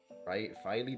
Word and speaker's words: Filey: Filey, I forget how to say it. Filet sounds like fish, so Filey.